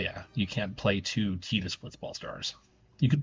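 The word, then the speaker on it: Tidus: It looks like Titus. Official pronunciation for this one I know is Tetus.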